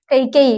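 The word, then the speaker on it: ಕೈಕೇಯಿ: ಎರಡನೆದಕ್ಕೆ ಕೌಶಲ್ಯ ಮೂರನೆದಕ್ಕೆ ಯಾರು ಕೈಕೆ ಕೈಕೆಯಿ ಅಂತಹೇಳಿ ಬರಿಬಹುದು ನಾವು ಹೌದಾ ಇದರ ರೀತಿ ಏನ್ ಮಾಡ್ತಾರೆ ಅಂದ್ರೆ ಇದ ಉಚ್ಚಾರ ಮಾಡ್ತಾರ ಕೈಕೆಯಿ ಹೌದಾ ಇಲ್ಲಿ ಸೌಮಿತ್ರಿಯ ಮಗ ಯಾರು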